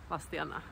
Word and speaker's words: Vadstena: How do you pronounce Vadstena? "Wasstena".